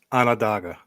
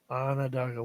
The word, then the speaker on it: Onondaga: Onondaga. Onondaga.